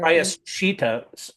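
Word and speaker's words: prāyaścitta: It's the atonement word, prayashita or Prayashita, prayash, the S with a slash above it is, prayash.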